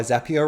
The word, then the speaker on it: Zapier: That's why Zapier rhymes with happier.